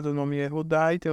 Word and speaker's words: Yehudá: que é o nome Yehudá. Nessa palavra, o Vav possui o som primário de consoante vocálica, que é U. Por quê? Porque está no final, a primeira sílaba do nome Yehudá.